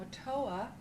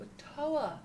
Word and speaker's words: OTOA: creative life practice now a toa is the acronym stands for the acronym of one thought one action o t o a which we pronounce so a toa creative life practice refers